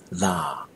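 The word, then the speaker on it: လာ: The next verb I want to introduce to you is the verb to come, and that is la. This one, you need a long, lingering, stretched out vowel.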